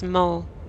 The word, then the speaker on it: mot: It's mot. The T is silent. I don't know.